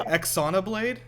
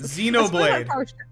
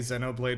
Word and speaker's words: Xenoblade: know how it's pronounced Xenoblade xade Xenoblade I think I think British people do say Zeno Blade with their accent but yeah Z Xenoblade just it's it's definitely not EXO blade God all right the